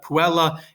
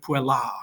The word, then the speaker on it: puella: have puella and then you have puella, right? That A, the macron over the A, and the ablative singular. Not that you pronounce it that way, it's more emphatic and dramatic to say puella, but you're kind of holding that final A a little longer in the second version of it because you